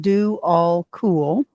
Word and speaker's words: Djwhal Khul: I'm going to channel Dewal Cool. Funny spelling, but do all cool is how we pronounce it.